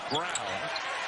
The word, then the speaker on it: Braun: brown do for you looks like braun pronounced brown and the freshman getting